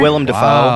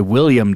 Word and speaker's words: Willem: Keitel is in there Willem wow yeah it's Shock full of amazing people you pronounce it correctly yeah because so many people say William defense get it right or